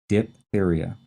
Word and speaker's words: diphtheria: tricky to spell it's d i p h there's this silent h in there and then t-h-e-r-i-a diphtheria this is an acute